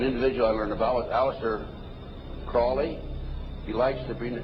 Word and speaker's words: Crowley: i learned about aleister crowley he likes to bring have his name pronounced crowley to rhyme with holy and the satanist today